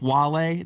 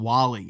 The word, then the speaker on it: Wale: Well, this streamer didn't even know how to pronounce his name. His name's Kai Cenat, but he didn't know who Wale was. I think he called him Wally.